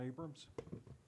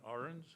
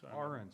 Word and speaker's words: Ahrens: Abrams. I think you mispronounced my name. Uh maybe I did. My name is Ahrens. Ahrens, sorry, sir.